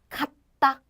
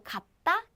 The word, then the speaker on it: 같다: So 갓. But I say 같아요 because 이응 comes after that, and that's called lentition, and 이응 comes.